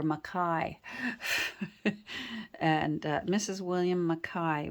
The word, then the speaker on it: McKai: M's family pronounced it so don't you dare call it McKay they were maai and uh Mrs William